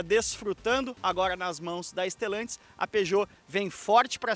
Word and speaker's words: Stellantis: Mais do que isso, trata-se de um filho da Stellantis, não da Stilantes, da Stellantis. Sim, a grande notícia aqui é que o 208 recebe agora o motor 1.0 Firefly de origem Fiat.